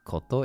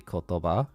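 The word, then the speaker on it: 言葉: ah I also realized the word word in Japanese is not kotto it's actually kotova and I knew that but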